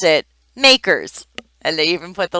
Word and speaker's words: MACRS: and we pronounce it makers and they even put the little quote there so you understand the acronym is MACRS and we say makers to compute makers depreciation